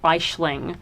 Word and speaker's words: Aisling: It's actually from the Irish name Aisling, which is spelled Aisling because my mum's Irish.